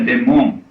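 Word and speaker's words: δαίμων: Porque a palavra daimon se escreve daimon grego, se pronuncia demon quer dizer só espírito genérico, nem bem nem mal.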